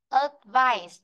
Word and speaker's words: advice: Ớ thì nó không có trọng âm. Cứ đọc ra âm ớ là nó không có trọng âm. Nó sẽ rơi vào chữ phải. À, nó sẽ rơi vào vị trí thứ hai.